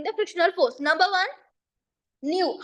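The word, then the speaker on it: μ: coefficient we we spell we pronounce this as new new into R so what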